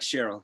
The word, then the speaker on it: Cheryl: So her name, it looks weird, but her name is pronounced just like Cheryl, just normal.